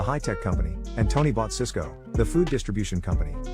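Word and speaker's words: Sysco: Jack had told him to buy Cisco, the high-tech company, and Tony bought Cisco, the food distribution company. Both stocks are pronounced exactly the same.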